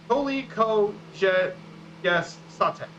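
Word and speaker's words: koliko je sati: So basically, that's the pronunciation. It's koliko je sate.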